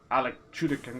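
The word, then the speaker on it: Alan Tudyk: gotta be careful the pilot from fire fireflies Alec shooting that's how you say his name he's [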